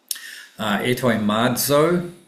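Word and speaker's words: ἑτοιμάζω: Etoimadzo, that's with the zeta, so we pronounce it like with a z sound.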